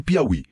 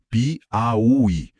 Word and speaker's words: Piauí: E Piauí. Pi au i. O i estáatônico, sozinho lá no final, separando-se do bloco anterior. Leva acento também.